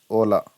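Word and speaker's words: hola: यू all must bay held in knowing हां यार hello and penis video note से होला बट इस ओला चीज ऑलवेज साइलेंट इंडिपेंडेंस फ्रॉम विशुद्ध प्रॉफिट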